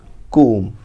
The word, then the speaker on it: comb: Exactly जो pronunciation होती है वो तो होती है comb, that is comb, बट इसे आप comb भी बोल सकते हो, right. It's नॉट comb, नॉट comb, इट्स comb।